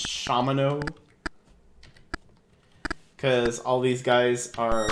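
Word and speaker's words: Shamino: Or also, I'm saying his name wrong every single time I say it. It's Shamano.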